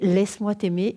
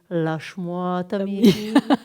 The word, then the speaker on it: Laisse-moi t'aimer: Et puis, à chaque fois, il faut travailler chaque syllabe. Et alors, il lui répétait « Laisse-moi t'aimer ». Et lui, il disait « Lâche-moi t'aimer ».